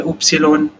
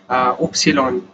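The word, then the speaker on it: Ypsilon: उसके बाद उपसिलोन, जो वाई होता है उसको हम स्पेलिंग, मेरे को पता नहीं, चेक कर लेना नेट पे, शायद ही होती है, उपसिलोन, है ना, उपसिलोन। ये किसके लिए हो गया, वाई के लिए हो गया, उपसिलोन।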